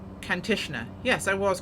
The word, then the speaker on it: Kantishna: course it's looking good now do i always pronounce this one incorrectly that's the question it's kantishner yes i was correct now continue has a